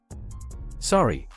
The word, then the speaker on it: sorry: the US and Canada sorry in this word the o sound differs Canadians pronounce this word as though it rhymes with story in the US it rhymes with stari nich in the US